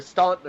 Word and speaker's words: Staunton: Like I had to drive to Staunton earlier today, or Stanton, depending on how you pronounce it, to pick up my helmets.